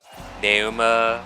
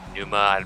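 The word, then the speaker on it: Pneuma: Even though like they're both part of Nauma or Numa. I'm not certain 100% certain how you pronounce that, but like I'm almost positive the P is silent.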